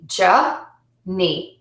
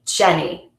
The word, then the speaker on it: Jenny: And that would be Jenny, Jenny. So it's J-E, Je. So that's a consonant, vowel, syllable shape. And then we end with another consonant, vowel, syllable shape, Ni. Now, I use two E's here just to represent the long E sound, but we really only say one vowel sound here.